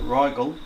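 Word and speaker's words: Rigel: talking bollocks what okay so we say Ryle pronounce it Ryle serus Beetle geese pronounced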